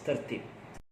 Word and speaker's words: tertib: Okay, moving on, next word is tartib. The Malay word pronounced as tertib.